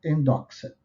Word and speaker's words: endoxa: O método dele normalmente parte daquilo que os gregos chamariam de endoxa. Sem nenhum mistério, se escreve como se diz, endoxa. Plural de endoxa é endoxai.